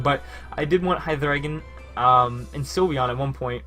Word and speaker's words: Hydreigon: which I do say like that. That is the proper pronunciation, by the way. Watch True Green 7. But I did want Hydreigon and Sylveon at one point.